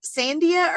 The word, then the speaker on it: Sandia: And then how do you say that tramway? How do you pronounce that? Sandia? Sandia. Sandia or Sandia or Sandia? Sandia. Sandia. Okay.